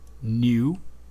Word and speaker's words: knew: I new, eu não pronuncio esse K.